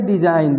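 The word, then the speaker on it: design: फिर आगे देखिए, यदि किसी शब्द में एन से पहले जी आता है तो जी हमेशा साइलेंट हो जाता है। कोई भी शब्द में अगर एन से पहले जी आए तो जी साइलेंट हो जाता है। जैसे यहाँ पे देखिए एन से पहले जी है तो ये जी साइलेंट है।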